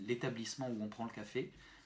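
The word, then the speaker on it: кафе: Donc pour dire le café, l'établissement où on prend le café, ça sera café. K, A, F, Y. Et c'est le Y qui est accentué. Changement d'accent.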